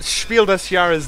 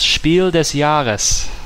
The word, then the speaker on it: Spiel des Jahres: Yeah, Concept was a Spiel des Jahres nomination. I think I pronounced that incorrectly. That is horrible pronunciation, thank you. You're welcome. It's, okay, just for prosperity of the title, it's Spiel des Jahres.